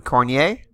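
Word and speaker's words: Cournoyer: center Henry Richard and the right winger Yvan cornier that's how you pronounce it on the defenseman left defenses Thierry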